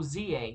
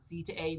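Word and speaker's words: Z-A: Oh, ZA, that's how it's pronounced. I was hoping we'd get the update on Z to A. ZA, just ZA, not Z to A, Z to A, whatever.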